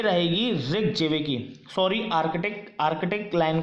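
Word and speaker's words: Reykjavík: अब आप इसको कैसे भी प्रोनाउंस कर सकते हैं अपने हिसाब से, ठीक है। इसको रेक जेवेकी बोला जाता है।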